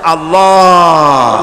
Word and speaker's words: আল্লাহ: আল্লাহ পাকের নাম হচ্ছে আল্লাহ মুখটা একটু গোল হয়ে যাবে বলেন আল্লাহ আল্লাহ পৃথিবীতে বিভিন্ন